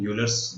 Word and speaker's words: Euler: इसको प्यार से अपन यूलर्स या भी बोल सकते हैं, बट ऑयलर्स इसका प्रॉपर प्रोनाउंसिएशन है।